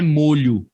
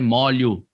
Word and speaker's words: molho: A pronúncia dessa palavra não é molho. A pronúncia dessa palavra é molho, tá bom? Se você quer se referir a chaves, a pronúncia dessa palavra é molho, molho de chaves, ok?